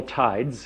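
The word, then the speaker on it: Ptides: we call this model Tides it's got a silent p in the front and um that's uh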